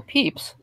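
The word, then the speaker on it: Pepys: here for me with samuel peeps which for those of you who don't know it out there watching is spelled PEP YS and yeah it's about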